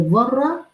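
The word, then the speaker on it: ذرة: फम यामल मिला जरति ये जर्रा र की नरमी के साथ अदा किया जाता है when you will pronounce they this दाल तो आपकी टिप ऑफ the tongue will come slightly outside from front teeth इनाइजर से तो अरब कहा करते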